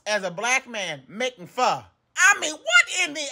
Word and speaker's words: pho: it very seriously and today we are making f it is pronounced F not fo so now that you know stop pronouncing it